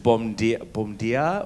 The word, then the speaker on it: bom dia: Is it bom dia or how do you say good morning? Bom dia.